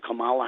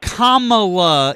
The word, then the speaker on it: Kamala: Camala Harris. Kamla is her name.